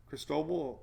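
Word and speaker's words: Cristobal: you a pronunciation guide look at this crease toe no talk toe would be toe ayyy so it's crease toe ball for snow ball crystal ball there you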